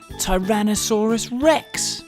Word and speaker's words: Tyrannosaurus rex: most famous dinosaur ever tyrannosaurus rex how do you say that again tai ra na saw rus rex it's often called t-rex